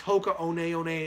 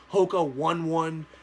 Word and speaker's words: Hoka One One: wrong all the time it's Hoka onaona it's not Hoka one one shoulder company some respect